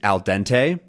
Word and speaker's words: al dente: that is used is alente um with a nice American pronunciation and that it translates